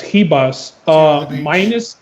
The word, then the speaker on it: Ribas: The biggest favorite on the card, Amanda Ribas, because she's Brazilian, I believe, so you don't pronounce the R. It's Ribas.